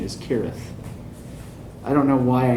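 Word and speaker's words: Cirith: a kid and they always called they always pronounced it syrah thundel but apparently it's correct the correct pronunciation is kirith i don't know why i know that's the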